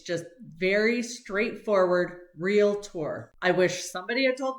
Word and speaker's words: Realtor: of the first ones is how to actually pronounce real tour it's not real tour it's real tour like re e l t o r real